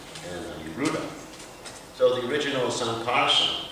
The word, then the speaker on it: Sankarshan: So the original Sankarshan, it's actually pronounced Sankarshan, not Sankarshan. It's interesting. Most of the times I pronounce it wrong. It's Sankarshan because it's a nasal.